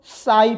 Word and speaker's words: psi: साई पढ़ते हैं, साई पढ़ते, साई। क्लियर हो गया? पढ़ते क्या है? साई पढ़ते हैं, इसको साई पढ़ते हैं। लिखते कैसे? PSI। पी का प्रोनाउंसिएशन नहीं होता है यहाँ पर।